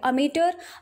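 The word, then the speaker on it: amateur: अमेटर American English में है और अगर हम ब्रिटिश इंग्लिश की बात करें तो ये अमेचर प्रोनाउंस होगा।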